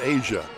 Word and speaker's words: Isaiah: one shot as Williams she spells her name Isaiah and her head coach said when I get mad at her I call her by her real name but everybody you pronounce it Asia Darnell lays it up